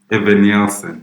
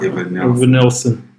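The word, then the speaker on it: Evanilson: How do you pronounce his name? Evan Nielsen. Yeah, Evan Nielsen.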